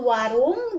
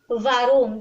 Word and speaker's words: warum: Like the V as in victory in English. That is how we pronounce W here in Germany. So this is not warum, this is warum.